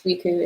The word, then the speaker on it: Ouicou: And then the intoxicant that they produce, Wiku, is spelled Ouicou.